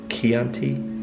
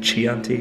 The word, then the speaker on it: Chianti: wine that's not Italian I never know how to pronounce it I think it's Chianti it looks like a Chianti but yeah it's Chianti but it's a yeah